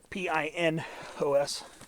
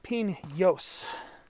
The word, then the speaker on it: Pinos: are you know spelled in the Spanish way p-i-n-o-s I don't think it's supposed to be ping yos I think it's supposed to be piss Pinos